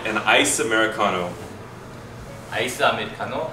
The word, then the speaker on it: 아메리카노: 아메리카노.